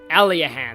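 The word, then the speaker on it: Aliahan: to the east of alahan alahan that's how you pronounce it but be careful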